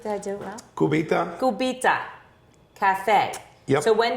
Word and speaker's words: Cubita: So you opened, now I'm going to pronounce Cubita. Yep, that's good. Did I do it well? Cubita.